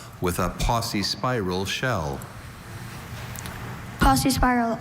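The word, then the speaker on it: paucispiral: Posse spiral. Are there any alternate pronunciations? Just Posse spiral.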